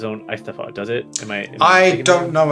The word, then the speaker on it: Eisteddfod: Well, how do you pronounce it? Eisteddfod? Eisteddfod.